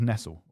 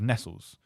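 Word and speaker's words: Nestlé: Like when my dad was a kid, Nestle was pronounced Nestle, and you'd have Was it? Yeah, you'd have Nestles because it was like anglicized, and now we pronounce it Nestle because that's more close. Probably because that's when they put the accent on it more recently.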